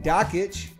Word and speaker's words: Dakich: ESPN broadcaster Dan Dakich, it rhymes with Jockich, had this to say about 18-year-old Duke freshman and presumed ACC Player of the Year Marvin Bagley III.